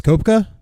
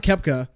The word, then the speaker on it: Koepka: I actually can't pronounce Brooks koepka no not Kefka the guy shows a